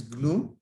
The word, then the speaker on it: GNU: gnu so gno stands for this is we pronounce is glue right so gnu is so here is not